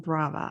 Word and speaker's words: Brava: a on the map hence the term Bravo Arts rhymes with Strava Strava and Brava I like that okay